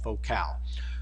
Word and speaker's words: Focal: vehicles it's focal and it's spelled like focal f-o-c-a-l but it's it's called vocal focal makes really good speakers